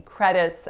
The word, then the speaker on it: credit: So credit is only made up of two syllables, and both pretty straightforward, cre and then rit. So the real trick in this one is that that D is not making a D sound. We don't say credit, it's an alveolar flap, credit.